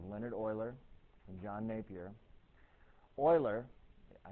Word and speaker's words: Euler: that occurs often in nature this old boy euler did tons and tons and tons of experiments